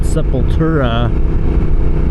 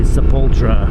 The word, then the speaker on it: Sepultura: Sepultura is how people pronounce it. It was supposed to be Sepultura.